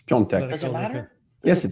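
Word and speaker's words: Piątek: How did you say his name? Piatek. Whatever. It's Piontek.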